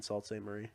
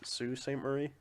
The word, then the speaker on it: Sault Ste. Marie: I know, but I think it's pronounced like so. I thought Sault Ste. Marie was spelled like SI, something different.